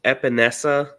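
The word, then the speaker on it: Epenesa: Correct me if I'm wrong, but I think it's pronounced Epinesa, just because he is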